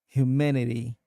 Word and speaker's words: humanity: Uh the correct pronunciation is humanity with the emphasis on the second syllable. So it sounds like humanity. The a in the middle is more like a short a sound.